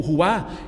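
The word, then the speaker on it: רוח: O som imita o sopro que sai de dentro de nós.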